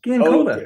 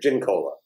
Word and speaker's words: Giancola: use it like a mixed drink, gin cola, like a Is it hard. gin cola? You're kidding me. No, Is that no, what that's it just is? the way our family does. I've actually heard Italians pronounce it Giancola, like Yeah. like Jean, like John. So I think that's what Gian is Yeah. like John. So So what do you say? well, we've always said gin cola.